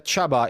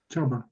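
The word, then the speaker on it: Csaba: pronounce your name uh it's Chaba it's uh you pronounce it like Jaba the hot from Star Wars but instead of J you say CH so Chaba Chaba yes okay so can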